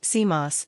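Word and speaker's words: CMOS: what was known as a bipolar to seos pronounced seos technology if this enormously complex project could be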